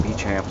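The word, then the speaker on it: Béchamp: people have never heard of bamp antoin bamp pronounced bechamp sometimes Bend upon anyway you need to focus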